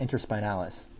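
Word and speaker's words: interspinalis: be the inter spinals so it's called It's pronounced inter spinalis the only ones you have to know on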